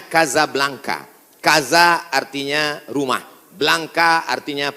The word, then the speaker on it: Casablanca: Hasan dhuafa di Kota Kasablanka ibukota Maroko tempat saya kuliah nama negaranya Maroko ibukotanya tulisannya Casablanca cara bacanya Kasablanka Kaza artinya rumah Blanca